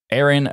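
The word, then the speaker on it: AerynOS: our new name is Aaron O So a e r y n o for those listening to the audio version It's pronounced like Aaron it's a name that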